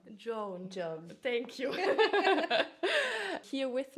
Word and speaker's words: Joan: And today I have the pleasure to have JOAN. Do I pronounce it? Joan. Joan.